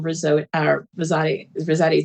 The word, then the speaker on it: Rosati: So looking forward to, as you said, Chairwoman Rosati to Rhymes with spaghetti.